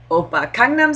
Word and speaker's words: Gangnam: very big problem with pronouncing the word kangam say it with me K kangam kangnam style right okay he only says